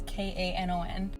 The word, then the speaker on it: Kanon: The puppy that we have an appointment to see is named Cannon. It actually also might be Kanan. I'm not sure how they are pronouncing it. It's Kanon. So a couple different ways.